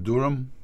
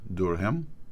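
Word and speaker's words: Durham: В данном случае, в принципе, разницы никакой между Маллером и господином Дурхэм. Кстати, зовут этого прокурора Джон Дурхэм или Дурхэм, правильное произношение.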